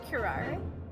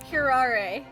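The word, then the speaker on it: curare: the case on trial why did he suddenly change the pronunciation of the word kurar it's kurar kirare it's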